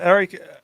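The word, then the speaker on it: Aric: there's a guy called Eric Eric almarola yeah his first name is spelled a-r-i-c Eric yeah Eric Eric yeah which I think they pronounce it more like Eric yeah Eric Albany yeah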